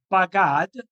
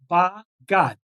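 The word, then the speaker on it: בגד: in the Bible text, we are not supposed to read it as it's written. We're supposed to read it differently with a separation in the syllable. And even though in Hebrew it says bagad, as one word, bagad, which means to betray, as I said, we're supposed to read it in two separate words.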